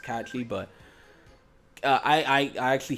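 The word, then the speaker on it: Cait Sith: for the longest I was calling him K Kate Sith you know when I was younger but it's actually pronounced catchy but I I I actually hate him and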